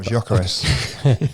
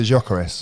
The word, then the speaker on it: Gyökeres: I think, how do you pronounce that guy's name? Lockyer. No, the other one. Oh, Gyökeres. Sorry, say that. Victor Gyökeres.